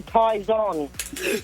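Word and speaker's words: Tyzon: down all the time yeah but it's actually Ties on Ties on Ties on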